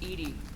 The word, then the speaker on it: EDI: have a specific inquiry why are you named Ed Ed is the phonetic pronunciation of Eed that is an acronym for